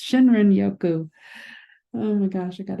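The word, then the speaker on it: Shinrin-yoku: We just started diffusing the Shirin Yoko. That's Shinrin Yoku.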